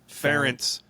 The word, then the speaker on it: Ferentz: Brian, how do you pronounce his last name? Ferentz.